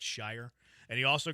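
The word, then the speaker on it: Al-Shaair: Shy, he called him. Aziz al Shier. He called that to Aziz, which it's as we all know, it's Shire.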